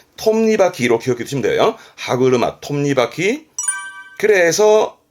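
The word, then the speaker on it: 歯車: 더 있네요 어렵지 않죠음 뒤에는 차가 있잖아요 그래서 발음은 하구루마 하구루마 이게 뭐냐면 이거예요 그러니까 치아라는게 있고 차라는게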